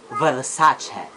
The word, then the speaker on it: Versace: components should be Nike Versace it's an Italian word and the right pronunciation of this is Versace next is must Chino